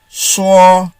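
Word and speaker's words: shuo: s-h-u-n is pronounced soon s-h-u-o is pronounced as saw please remember that pinion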